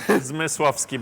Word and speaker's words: Zmyslowski: Okay, for the rest of people, you have to pronounce that name yourself. It's Zmyslowski. Please say to this camera. Zmyslowski, but it's better to call me, I'm serious.